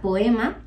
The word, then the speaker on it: Poema: estudiantes en la ciudad que sería poema Bueno realmente todo el mundo lo llama Puma pero se escribe poema Eso es bueno Pues